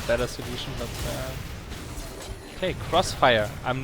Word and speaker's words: Xfire: that c you know xfire the program it's supposed to be pronounced Crossfire because it's a cross really I never knew